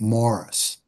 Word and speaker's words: Maurice: Yes, that's just Barry and Morris. I know it's spelled Maurice, but he pronounced it Morris.